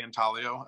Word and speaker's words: intaglio: um the the intaglio is that how you say it in talio um uh yeah I'm not sure about the the Italian pronunciation but in America we say intaglio um uh it has